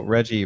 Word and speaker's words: Reggie: count well you know reggie rhymes with veggie so i think it